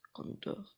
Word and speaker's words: conduire: Conduire. I don't know how to drive. Je conduis, j'ai conduit. Let's see how it's pronounced. Because we're still learning. So to drive is pronounced. Conduire. Okay, conduire.